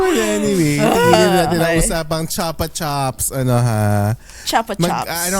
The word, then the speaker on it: Chupa Chups: Uy, pero Basta dito Chapa Chops siya. Dito sa New Zealand. Chapa Pronunciation? Chops. Pronunciation nila, Chapa Chops. Oh, Pero chocolate. same spelling. Mm-mm. Chupa Chups Same pa brand, din.